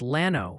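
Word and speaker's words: Llano: And hey, some helpful Texans want you to know it's Lano for Lano.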